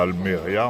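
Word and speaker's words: Almería: Alors, j'ai remarqué sur la sur toute cette côte à Alméria en particulier, il y a un passé au maritime comme ici quoi. Mais à Almeria, Alméria accentonique sur le ILMA tout le monde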